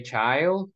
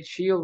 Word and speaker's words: child: affordable area Okay area we say child we don't say chill no chill means another thing so you need to say child okay care okay we